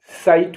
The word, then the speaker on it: sight: SIGHT, साइट माने नजारा।